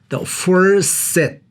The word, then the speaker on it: the first set: 단어 끝에 T가 나오면은 생략을 한다고 그랬죠. 그래서 first. 자, 그런데 그러면은 first 그 뒤에 다시 또 S 발음이 똑같이 나왔죠. firsts 이렇게 하는 것이 아니고 둘 중에 하나는 drop, 날려버리는 것인데 보통 앞에 있는 것을 날립니다. 그래서 이것을 한 번에 읽는다면 the first set 그렇게 읽어야 돼요.